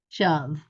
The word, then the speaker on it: shove: word uh yeah shove it looks like it would have a long o but it doesn't shove shove those those are